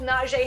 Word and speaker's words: Najee: the turn with both Najee Harris and DeAndre Swift come on man come on it's not g Harry sure you lose points for that you got to get the pronunciation right he's not he doesn't